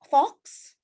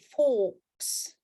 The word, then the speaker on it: forks: Misalnya kamu ke restoran, can I have fox? Maksudnya kamu mau ngomong garpu gitu, but this one kalian harus bacanya sebagai forks. Do you have any forks?